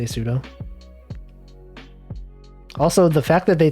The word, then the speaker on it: sudo: reported to the admin i say sudo i know it's supposed to be super user do so it should be pronounced sudo but i just say sudo also the fact that